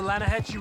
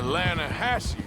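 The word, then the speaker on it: Lannahechee: I rode down to the Lanahatchee River. I caught some beautiful steelhead trout. You mean the Lanahatchee River? No. The Lanahatchee. It runs right near here. Yeah, but it's pronounced Lanahatchee.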